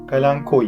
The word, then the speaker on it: Kalanchoe: Dear plant companions, as you know, the name of the plant is not actually pronounced as "Kalanchoe", but the correct pronunciation is "Ca-lun-koi", but it is settled in our language as "calansho" in turkish.